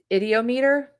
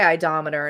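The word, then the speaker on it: ideomotor: It's just a board, and then of course we have the idiometer effect. I always say idometer, and it's not idometer; it's the idiometer effect.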